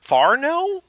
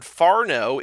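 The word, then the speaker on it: whānau: Farno? I don't know. Hey, it's the same word as last time, Whanau. She says, in parentheses, phonetically, Farno.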